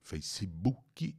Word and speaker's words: Facebook: ele tem no Facebook Facebook em português em inglês Face b boc a boca fica meio mole assim não é bu não é o som de u é um som de o boca boca e share